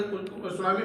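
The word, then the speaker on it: tsunami: हूं तो जान लीजिए सुनामी खाएगा टी से टी खाएगा जरूर लेकिन उच्चारण नहीं होगा सुनामी का सुनामी का टी में सुनामी में टी का उच्चारण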